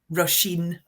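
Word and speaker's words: Róisín: How do you say her name? Pardon? Rosheen. Roshene. Okay, I did say it completely wrong.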